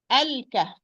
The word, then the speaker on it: الكهف: Lam is going to be pronounced because this is lam qamariya, because the kaf, it's 1 letter from the sentence ibghi hijjak wa khaf aqima.